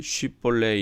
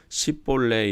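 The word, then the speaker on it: 쉽볼렛: 그가 만이 아니라 하면 그에게 이르기를 쉽 볼레 이라 발음 알아 하여 에브라임 사람이 그렇게 바로 말하지 못하고 10 볼레 이라 발음하면 킬라 사람이 곧 그를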